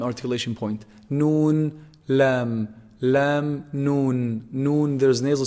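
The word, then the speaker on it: ن: Noon, noon is actually pronounced from the tip of the tongue when they hit, you see the upper incisors behind them a little bit.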